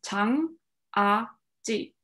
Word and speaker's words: jangajji: So the way you pronounce it is jang a ji. So it's three syllables. Yeah, so jang would be one, a would be one, and then ji.